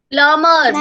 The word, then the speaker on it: plumber: प्लमर बोलना है इसको. बी इसमें साइलेंट है.